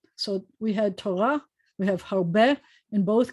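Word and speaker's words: תורה: So we had Torah, we have harbe. In both cases, the hey at the end of the word is silent. And in both cases, the accent is at the end of the word.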